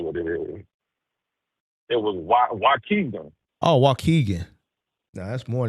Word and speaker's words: Waukegan: Coogan or something. I think that's how you pronounce it. Spell it? Oh, I'm about to tell you exactly what it is. It was Waukegan.